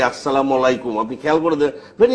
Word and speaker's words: আসসালামু আলাইকুম: তিনি বলতে চেয়েছেন যে অশুদ্ধ এবং বিকৃত উচ্চারণে ইসলাম আলাইকুম যদি কেউ বলে তাহলে সেটা সঠিক এবং আসসালামু আলাইকুম এভাবে শুদ্ধ এবং সঠিক উচ্চারণে যদি কেউ বলেন তাহলে